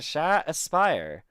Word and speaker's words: Sha Aspire: with my friend here sha aspire hopefully you said your name right or is it like Shay or no you said it right the first time sure I gotcha do